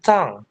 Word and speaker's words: tongue: Apalagi tadi lidah, tonggu, tongwe, or tenggo, apalagi tenggo, bukan tenggo ya. Nah, you have to say tongue.